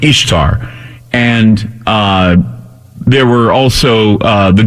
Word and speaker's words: Ishtar: And I did a search on the internet for burning churches in Ishtar, Ishtar, I-S-H-T-A-R, pronounced Easter, or like Easter, okay?